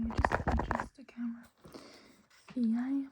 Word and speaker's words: jeg: Jeg, meg, deg. I, me, you. All spelled with the EG, but they're all pronounced I. Also, the E is pronounced like an A. So they're pronounced like so. Jeg, meg, deg, but they're written like this, okay?